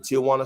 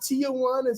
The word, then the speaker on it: Tijuana: I usually was checking out Mexico from the Tijuana side, the San Diego.